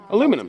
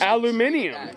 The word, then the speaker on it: aluminium: the United States guys aluminum that's not how it's pronounced though its aluminium yeah nobody believes us